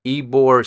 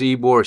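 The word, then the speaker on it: Ybor: the night and there's a place called eore City it's spelled why b o r City so what does ebore City have to offer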